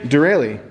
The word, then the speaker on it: Derale: working hard he's working hard how do you pronounce that name again dereli so they recommended the hypercool it's stock number